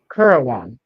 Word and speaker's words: currawong: The British pronunciation sounds the same. Karawong. Currawong.